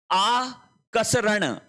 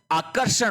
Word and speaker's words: आकर्षण: फिर देखिए आ कसरण आकसरण आकसरण गलत है देखो आ क स फिर होगा र का उच्चारण फिर ण आकर्षण गलत है शब्द क्या होता है आकर्षण होता है आ के बाद में क आएगा फिर र आएगा आकर्षण इस प्रकार से लिखा